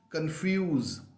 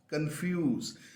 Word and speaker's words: confuse: f u s e confuse confuse now the only thing that you need to remember is where there is SE in these kind of words you are supposed to pronounce a z sound so please give yourself